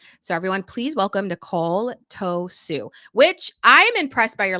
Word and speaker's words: Tossou: But yes, if you would like to pronounce it correctly, it's Tossou, which is Tossou.